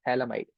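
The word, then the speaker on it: phthalimide: a nitrogen and the entire thing is called talamide. The pH is silent. We call it talomide.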